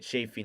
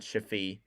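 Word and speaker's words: Chaffee: shaffy with the puck that's how you say it chaffy not chafi yeah Blues can't seem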